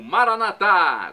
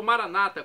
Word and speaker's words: Maranata: E agora, do aramaico, eu clamo Maranatá, como dizemos nós católicos, ou Maranata, como dizem nossos irmãos separados, os evangélicos ou protestantes, não importa a pronúncia, o significado é o